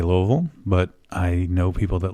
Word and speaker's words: Louisville: It's part of their tourism thing, and it shows all the different ways you can pronounce it. And if you ask different people there, it depends on where you're from and all this other stuff.